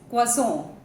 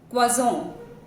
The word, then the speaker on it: croissant: Some Americans do pronounce it as croissant, but the correct French pronunciation is croissant, croissant. Moving on to the next slide, we have the superfood.